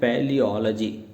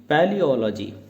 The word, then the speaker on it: paleology: है और वह है पैलियोलॉजी। स्पेलिंग है PALEOLOGY। इसको हमने 5 पार्ट्स में ब्रेक किया है अपनी प्रोनाउंसिएशन को प्रॉपर करने के लिए। पैलियोलॉजी।